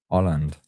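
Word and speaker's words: Hollande: Pronounced nearer to Holland. Francois Oland. So, I'm going to say it without the H, the hard H.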